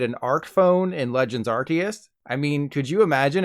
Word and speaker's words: Arceus: When Arceus was first revealed, it was officially pronounced Arceus. But then the Pokemon Company realized that Arce means but in certain places of the world, so they changed it to Arceus.